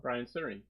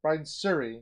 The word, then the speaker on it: Brian Suri: is by i'm going to say it wrong brian siri brian suri yeah that's it siri that's shuri not sure